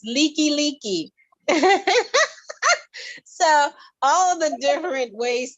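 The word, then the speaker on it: Likelike: how do you pronounce that street name and it's spelled l-i-k-e -l-i-k-e like so it's like like and of course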